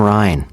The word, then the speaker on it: Rijn: It's Van Ryn. I'm sorry, Amy. It's Rembrandt van Rijn. Rijn is spelled R-I-J-N.